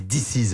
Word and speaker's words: Disiz: Diziz, il faut bien prononcer Diziz.